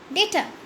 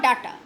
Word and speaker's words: data: stressed on the word data. How do we actually pronounce it? Data or data? It is data in British English. It is data in American English.